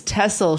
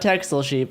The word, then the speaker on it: Texel: It's one of those European places where where the pronunciation where the pronunciation does not match how it's written. It's tessel sheep, not texel sheep.